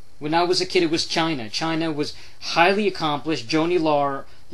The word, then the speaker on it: Laurer: Joanie Laurer. It's hard to pronounce her last name without saying like Lawler. It's kind of like, you know, the King Lawler.